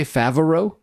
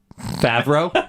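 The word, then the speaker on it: Favreau: in the interview, did you say Favo? Favo. Favro. Sorry. Favro.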